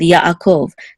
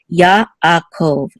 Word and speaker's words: Yaakov: This ayin, we say it's a silent letter, but if it follows a letter that has its own vowel, we're going to separate the sounds also here. So Yaakov, Yaakov.